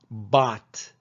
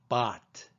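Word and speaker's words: bought: Bot. It's not boat, it's bot.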